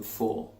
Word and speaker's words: for: in the kitchen and what we use them for question what do we call the things that